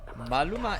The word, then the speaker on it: Maluma: Now, Maluma is very hot.